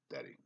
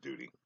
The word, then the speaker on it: Dutty: I call it Dutty, Dutty, D-U-T-T-Y. I actually pronounce it Dutty. But I think they want to actually pronounce it Duty.